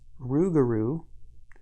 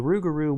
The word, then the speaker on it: Rougarou: If Lady Esprit was right, this Rougarou, and it's spelled differently here, maybe to help you pronounce it. The roux here is spelled like cooking roux. The Rougarou wouldn't stop killing at 3, that's for sure.